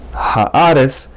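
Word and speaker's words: הָאָרֶץ: Haaretz. Ha-a-retz. 3 syllables.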